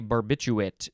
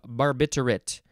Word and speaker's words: barbiturate: 1919 a crystalline barbiturate i wanted to say barbiturate but there's an r in there barbiturate c8h12n2o3 used as